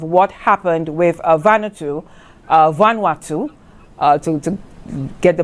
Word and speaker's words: Vanuatu: the background of what happened with vanu uh vanatu uh to to get the pronunciation correct they had been working with the